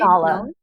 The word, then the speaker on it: Nala: Nala. Nala, Nala. She's so Nala. pretty. Thank you. Yeah, it's like the Lion King, Nala.